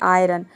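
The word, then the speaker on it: iron: rule के exception है जैसे कि आयरन आयरन में आप देख सकते हैं यहां पे आयरन में आई के बाद यहां पे आर आया है लेकिन यहां पे आई को हम क्या प्रोनाउंस कर रहे हैं आई प्रोनाउंस कर रहे हैं आय आयरन होता है आयरन यानी कि लोहा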